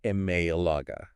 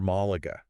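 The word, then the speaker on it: Málaga: But if you were to pronounce it without the tilde, Malaga. it would lose its Spanish flair. Yeah, it sounds so flat Exactly. compared to the proper Malaga.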